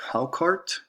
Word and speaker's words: Hákarl: The food I chose is pronounced Hákarl and it's actually pretty interesting like when I